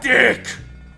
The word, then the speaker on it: DiC: Because Deke is owned by Disney. Deke. Dick! Dick. Dick. I've heard some people purposely pronounce it DIC to avoid the jokes. I don't. Deke.